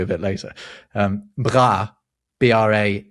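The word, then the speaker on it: bras: bit later, um, bra B r a s, but pronounced basically bra in French is your arms, not your bra.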